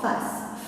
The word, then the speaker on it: face: Dernier mot, en face. Face, la deux syllabes. La première c'est fa, deuxième se. Donc le C se trouve devant le E et il se prononce se.